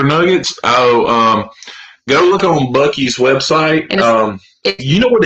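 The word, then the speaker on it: Buc-ee's: But anyway, And it's pronounced Bucky's, not Boosie's.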